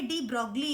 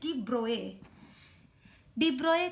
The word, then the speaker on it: de Broglie: ये जो स्पेलिंग है उससे लग रहा होगा ये डी ब्रॉगली है, बट इट इज डी ब्रोए concept of dwell nature of matter.